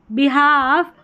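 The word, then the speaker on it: behalf: और एल जो है वो साइलेंट है। देखिए हाफ काफ बिहाफ और हाफ वे।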